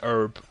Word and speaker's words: herb: the country that says herb oh right the H is silent why why is it